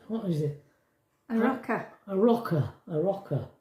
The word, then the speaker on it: Arrochar: Still can't remember how you pronounce that. A rocker or something. Is it? What is it? A rocker. A rocker.